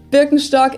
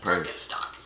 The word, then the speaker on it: Birkenstock: So English speakers usually say like Birkenstock. In German, we say Birkenstock. Birkenstock, Birkenstock, which literally translates to birch stick.